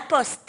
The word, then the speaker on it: poste: On dit la poste, hein, Carole, Ouais. avec un T.